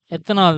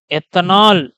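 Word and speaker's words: ethanal: Pronounce பண்ணும்போது கரெக்டா பார்த்து பண்ணுங்க. எத்தனால்னு போட்டால் தான் ஏஎல்னு போடுவீங்க. எத்தனால்னு சொல்லிட்டு படிச்சீங்கன்னா ஓஎல் தான் மறதியில போடுவீங்க. ஸோ மார்க் உங்களுக்கு போயிடும். படிக்கும் போதே எத்தனால் ஆல் அப்படின்னு சொல்லிட்டு அழுத்தமா இந்த இடத்துல சொல்லுங்க. ஓகேங்களா?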